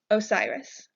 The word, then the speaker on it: Osiris: easily pronounce this name by saying o Sai RIS Osiris Osiris is the god of